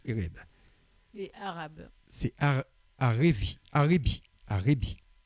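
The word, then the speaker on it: ערב: Ça s'écrit Erev, mais ça se prononce Ereb.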